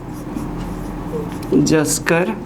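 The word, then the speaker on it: Zanskar: N silent होगा, जस्कर range.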